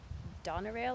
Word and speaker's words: Donerail: open house at 17:10 Donna rail I believe it's how you say it do n ER ail like in that address is